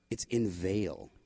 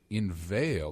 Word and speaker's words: inveigle: It's inveigle. Inveigle. That's how you pronounce that.